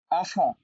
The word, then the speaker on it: enfant: enfant, enfant, হ্যাঁ enfant। আপনি final letter mute করছেন কিনা শুধু এটাতে ফোকাস করেন, আর বাকিটা আমার মতো উচ্চারণ করেন। enfant, enfant, টি উচ্চারণ করছি না।